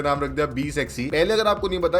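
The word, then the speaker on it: BE 6: तो उसको महिंद्रा प्रोनाउंस करते हैं बी इकट्ठा करके, और आगे जो 6E है उसको महिंद्रा प्रोनाउंस करते हैं सेक्सी, 6E सेक्सी, समझ गए ना। और टोटली में फिर अगर आप सब कुछ मिला दे तो इस गाड़ी का नाम बनता है बी सेक्सी। महिंद्रा वाले जो अंकल है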